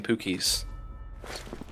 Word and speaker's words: Pookie's: it wait Pookie's what yeah that's how you pronounce his name Pookie's froster literally told me that was a Twitter Twitter DM session with froster there you go oh